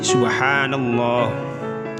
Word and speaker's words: subhanallah: Sehingga ketika dibaca menjadi subhanallah. Coba ditirukan di rumah ya. Saya ulangi lagi, subhanallah. Coba dibaca berkali-kali sehingga bisa membacanya dengan fasih dan benar.